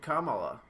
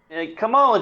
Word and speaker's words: Kamala: yeah i mean like kamala just seems like the natural pronunciation but apparently it's not you know and that's fine so it's kamala it's not it's not